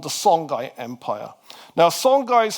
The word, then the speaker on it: Songhai: Now, sanai is how we say in English. Some people think that should be pronounced shongai, but we'll just keep it pronounced uh we'll keep the pronunciation simple.